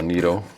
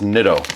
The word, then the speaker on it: Nitto: Um, it is a NATO chromali, long stem, plenty of adjustment, and sorry, it's Nitto. I know that now. I got to start saying it right now that I know it.